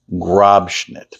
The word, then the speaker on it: Grobschnitt: Say it with me, Grobschnitt. Make sure you pronounce it correctly.